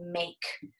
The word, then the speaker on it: make: have this morning is make make em a ke make remember the e on the end is silent changes the a to make a difference